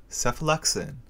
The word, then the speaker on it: cephalexin: which reminds you that each of these medications starts with the sound SEF cephalic SEF the first shelf contains the first generation cephalosporin cephalexin represented by the falling